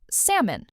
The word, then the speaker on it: salmon: Memory tip. Think of a person's name, Sam, plus a small un sound at the end.